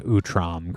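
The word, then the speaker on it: Utrom: I uh did have to watch no less than one lore video to make sure that I was pronouncing Utram correctly.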